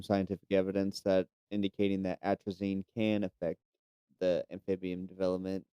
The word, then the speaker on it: atrazine: Atrazine.